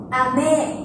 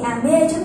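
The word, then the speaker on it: 雨: Chúng ta sử dụng trọng âm. Vì mưa rơi từ trên trời xuống, đúng không? Vì mưa rơi từ trên cao xuống, nên chúng ta đọc cao độ của âm thanh từ cao xuống thấp.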